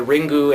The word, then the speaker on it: Ringu: anthology of Terror um now these are called the ringu anthology of Terror because they're just going by the Japanese pronunciation just to differentiate between